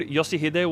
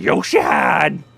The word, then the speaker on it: Yoshihide: Honest, funny thing, I figured Yoshihide was the proper pronunciation, but it came from friggin' Lai Hong's mouth first, and the way he talks, it would not surprise me if he pronounced it Yoshihad!